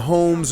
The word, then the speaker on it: Homs: war going on between the homes or the homs depending on how you pronounce that depending on how you like to pronounce it which are the